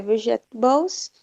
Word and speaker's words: vegetables: Vegetables. Primeira sílaba é forte.